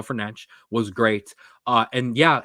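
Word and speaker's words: Fernandes: Bruno fernan great uh I'm going to do my best to pronounce his the actual correct way uh not the way 99% of us mispronounce it but Bruno fanch was great uh and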